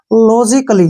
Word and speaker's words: logically: Next है LOGICALLY, ए के बाद फिर से डबल एल वाई आया है, इसको हम पढ़ेंगे लॉजिकली। क्या पढ़ेंगे? लॉजी, ऐसे लॉजिकली, ठीक है ना, लॉजिकली।